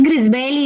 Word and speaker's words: Grisbelli: Ya lo dijo Ana y lo dijo Grisbelli, ¿así se pronuncia su nombre? ¿O Grisbelli? Es Grisbelli, Linda.